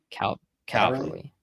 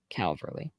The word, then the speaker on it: Calverley: Ernie Caverly? Calverley.